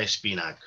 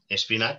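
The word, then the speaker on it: Espinach: fue efectuada por Buenaventura Espinac. Espinac con CH, pero en catalán no pronunciamos la H. Esta H final no se pronuncia, es en catalán antiguo.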